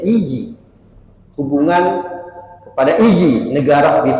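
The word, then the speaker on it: الإيجي: Jika serahannya nisbatun ila Izi, dengan kasrah hamzah dibacanya Iji, hubungan kepada Iji, negara di Faris, wahia min bahril kamil, baharnya bahar kamil.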